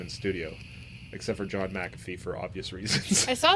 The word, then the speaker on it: McAfee: Mac. Because I heard him say his name. He says McAfee.